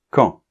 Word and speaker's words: quand: d'accord et enfin quand attention de pas dire qui hein quand on ne prononce pas le U alors quand partez-vous Sylvie